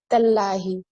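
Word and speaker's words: تالله: No, I think like so you're telling that it is supposed to be pronounced Tallahi.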